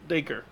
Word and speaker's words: Dacre: Sadly, I missed a good chunk of that, but I'm going to listen to Dacre. it later. Dacre.